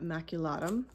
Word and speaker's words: maculatum: This wild geranium, or maculatum, that's how you say it, and this other one, this is a geranium carolinium.